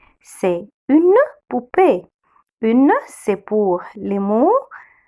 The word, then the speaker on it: poupée: C'est verbe être et verbe être une poupée. C'est une poupée. Une, c'est pour les mots féminins singuliers. Féminin singulier. Alors, c'est une article indéfini, c'est une poupée. Le O avec le U, on le prononce OU.